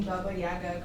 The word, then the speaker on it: Baba Yaga: good news for you you're pronouncing Baba Yaga correctly in Polish I have been told